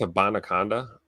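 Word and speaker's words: Israel Abanikanda: How did you pronounce his name? Because I think y'all got it right. I think it's a Bonaconda. Abanaconda?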